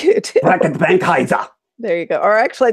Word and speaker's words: Reckitt Benckiser: Reckitt Benckiser.